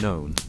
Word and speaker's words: None: It is the bell for none pronounced known.